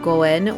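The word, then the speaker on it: 五円: It's only the 5 yen that is lucky because in Japanese it's pronounced goen, which apparently sounds the same as good blessing.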